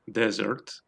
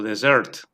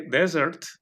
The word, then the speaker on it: dessert: Podemos acentuar en la primera sílaba o en la última, dessert o dessert. Pero yo una vez, hablando con huéspedes, dije desert y no me entendieron,